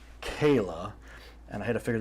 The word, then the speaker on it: Chela: Kayla, I know it's spelled Chela. Yes. But it's said Kayla, and I had to figure that out.